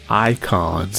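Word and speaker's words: Eikons: the end of this presentation we're on the icons and that's spelled e-i-k-o-n and this is basically like your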